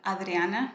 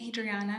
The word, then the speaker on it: Adriana: So my name is actually supposed to be pronounced Adriana. That's what my parents intended my name to be named as. But over the years, I've just gotten used to saying Adriana because a lot of people can't pronounce Adriana.